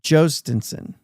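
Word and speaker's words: Jhostynxon: So we have OG says it's pronounced Jostinsson, where Baseball Reference actually puts the reference on the Joes and keeps it a J, but it's Jostinson is how they're saying it.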